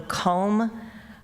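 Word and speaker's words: culm: they were called the comb piles, or let's see. So it's spelled C-U-L-M. I can remember vaguely them talking about the home dumps, but I just thought they were saying column.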